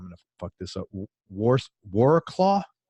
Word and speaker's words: Wrocław: to fuck this up, Wrocław? It's actually pronounced Wrocław.